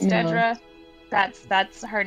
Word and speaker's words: Dedra: been happier that her name uh is not pronounced like mine uh originally I was like oh man it should have been Deidre I know it shouldn't have no it's Dedra that's that's her name I'm Nidra this is